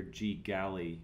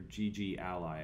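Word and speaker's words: GGally: the this Library here G galy or GG Ally I think is probably how it's pronounced is a collection of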